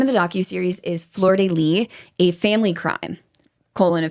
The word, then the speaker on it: Flordelis: So, the name of the docu-series is Flordelis: A Family Crime. colon A Family Crime. And then her name is spelled F L O R D E L I S. But apparently the S is silent.